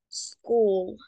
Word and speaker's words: school: Porque empieza con es cuando una palabra empieza con S solamente pronunciamos la s no decimos es decimos s entonces no es School se dice I am at School solamente la s y es una s corta School puedes repetirlo por